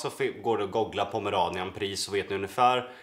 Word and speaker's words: Pomeranian: säger det igen, och den Pomeranian uttalas så, va?